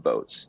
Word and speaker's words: Voatz: joined by nimitz sahani co-founder and ceo of votes and that's spelled v-o-a-t-z votes is on the forefront of